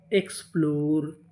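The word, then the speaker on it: explore: मैं आपको बता दूं कि अगर आपको इंग्लिश की किसी भी मीनिंग के आखिरी में इ लिखा मिले तो हम लोग इ का उच्चारण नहीं करते।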